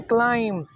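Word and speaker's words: climb: टम B silent है और सी एल आई एम बी यानी कि चढ़ना चढ़ाई पर चढ़ना तो इसको हम लोग पढ़ते हैं क्लाइम जबकि इसकी प्रोसेसिएशन है क्लाइम बी साइलेंट सैकड़ों ऐसे अल्फाज हैं जो हम आमतौर पर गलत बोलते हैं।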